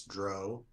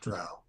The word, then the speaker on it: Drow: The most important pronunciation thing is it's Dro, not Drow.